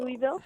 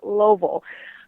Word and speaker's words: Louisville: I always call it Louisville, but I got a crash course on how to say it properly. Just put your fist in your mouth and say Louisville.